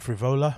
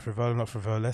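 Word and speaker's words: Frevola: Is that how you pronounce his name? Matt Frivola, not Frivolis. So we're adding an S at the end of this.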